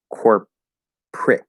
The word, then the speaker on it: corporate: core yes corporate corporate also notice I'm sort of getting rid of that second syllable instead of corporate which you can say corporate um we often say Corp prit so instead of an ER vowel we'll eat that syllable and end core with a p Corp and then start the